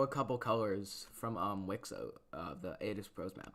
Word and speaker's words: WICSO: Like is it Wisco or Wixo? It's pronounced Wixo. Like Wisco would be what if what if started civilization over. And I feel like that'd be a little bit of a stupid name.